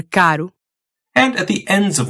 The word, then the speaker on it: caro: When a single R shows up in between two vowels. As in morango, or caro.